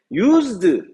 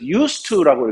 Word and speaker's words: used to: 배워보도록 합시다 자 이때 유즈드 따로 읽으면 근데 2가 붙으면 이때 쓰라고만 했습니다 그래서 유스트라고 읽어야 됩니다 이거를 가지고 영어가 제대로